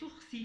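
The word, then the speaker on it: sursis: jurídico que é sur se escreve surgisse mas vez ursi porque é um termo em francês então toda vez que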